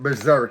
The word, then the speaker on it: BZRK: And I'm pronouncing it BZRK because it's BZRK.